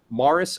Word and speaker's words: Maurice: and you're looking into getting a good narrator Maris R Cravens it smell like spelled like Maurice Maurice M Au u r i c Mars